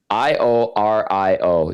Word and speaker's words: Iorio: Yeah, I had to go to the pronunciation guide for that one. I O R I O just to be like, okay, I need to clarify this.